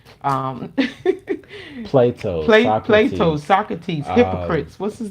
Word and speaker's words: Hippocrates: Yeah, Hippocrates. See, Yeah. I said it right. I know. I was just being messy and joking. Because his name looks like hypocrite.